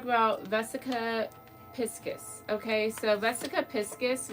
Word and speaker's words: vesica piscis: vesica piscus okay so vesica piskis which thank God I looked it up because I definitely did not know how to pronounce it um but so I